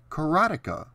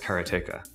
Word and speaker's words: Karateka: word karateka for the last 36 years I've pronounced it just as it looks karateka now I may just be a dumb hick